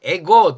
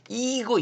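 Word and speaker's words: ego: 나의 아들이 나의 아들이다 에고 똑같죠 에고 요거 읽어봤어요 그대로 읽으면 이고 이렇게 읽지 마시고 글자 그대로 읽으면 돼요 원래 라틴 식으로 에고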